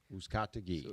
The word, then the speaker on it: Uzcategui: my name is category who's category if you're having a problem pronouncing the last name sound like who's got the key ah so if you